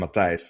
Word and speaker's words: Matthijs: So, in my name Matthijs, um, I have an IJ, right? It's pronounced I.